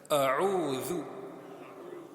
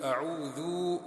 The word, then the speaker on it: أعوذ: A'udhu. We end up stretching a pesh. So it's just a quick dhu.